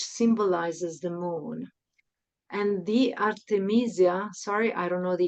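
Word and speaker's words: Artemisia: Yeah, you're saying it correctly. It's Artameeseia.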